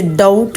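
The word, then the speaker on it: doubt: जैसे डाउट है। डाउट में बी जो है वो साइलेंट है।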